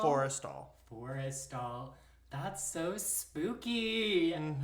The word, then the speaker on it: Forrestal: Forrestal? Forrestal.